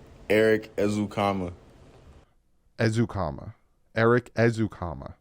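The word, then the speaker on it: Ezukanma: his name is pronounced Eric ezukama azukama Eric ezukama so it is comma so people there's no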